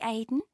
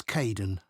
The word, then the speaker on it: Kaeden: Hi, Aidan. It's Caden. I'm so sorry.